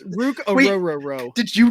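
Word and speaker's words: Orhorhoro: He's like, it's like the boat. It's row, row, row. your boat. Yeah. Rook Ororo.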